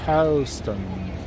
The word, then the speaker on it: Houston: When I get to Houston Street, pronounced Houston.